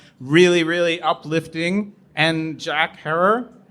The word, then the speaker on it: Herer: really uplifting and jack herrer rhymes with terror he got really high